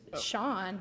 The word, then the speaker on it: Cian: He can't come to Boston with that name because it should be pronounced Sharn. It should be Sean, but anyways.